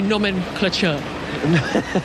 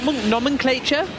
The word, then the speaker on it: nomenclature: will serve him well that new Norman clature so how do you say that I think so I think I butchered it nomenclature oh damn sure uh